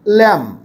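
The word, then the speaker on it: lamb: না milk fish sheep ল্যাম বি এর উচ্চারণ হয় না বললেই চলে সাইলেন্ট থাকে ব্লিড গ্রাস আর লিফ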